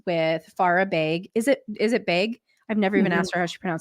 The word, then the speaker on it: Beg: Is it Beg? I've never even Mhm. asked her how she pronounced her last name. Beg.